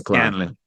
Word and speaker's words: Scanlan: So but the last part is Scanlan, right? It's not Saclan. Scanlan.